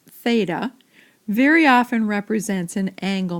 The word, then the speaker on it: theta: Just to point out a notation here, the Greek letter theta, and it's pronounced theta, very often represents an angle measure.